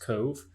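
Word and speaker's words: Cobh: against cove ramblers i've i've checked google and apparently that is pronounced cove so i hope i'm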